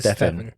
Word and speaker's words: Stefan: But the correct pronunciation of your name is It's Stefan.